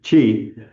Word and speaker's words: Twi: I say tree. I noticed you were saying chi.